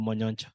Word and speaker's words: Monyoncho: I think the pronunciation of Monyoncho. I come from Kisii, and I know Christopher Monyoncho. I think that is the correct pronunciation.